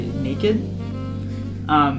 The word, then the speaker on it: Neiked: Okay, my song of the week is "Better Days" by Naked. It's spelled Neiked.